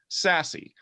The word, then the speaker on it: SASE: probably heard of it secure access service edge pronounced sassy what is it is